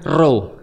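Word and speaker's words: Ρ: Khi khi dan P dalam bahasa Yun dibacanya row.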